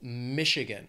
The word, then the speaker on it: Michigan: then we have Michigan the state has three syllables stress is on that first syllable Michigan and very close to